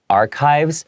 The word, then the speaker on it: archives: Okay, and that word archives, it looks like it has a CH sound.